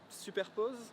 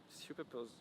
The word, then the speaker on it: Superpoze: Yeah, I'm saying like SUPERPOZE. This is with my really French accent. But yeah, you can like SUPERPOZE works well as well.